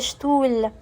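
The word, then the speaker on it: Stuhl: والمقطع اللي هو الاس تي بيتنطق شت. زي ايه؟ زي شتول.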